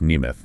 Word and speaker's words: Nemeth: And that's pronounced Neimoth, right?